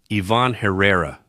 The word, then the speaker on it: Ivan Herrera: Ivan Herrera.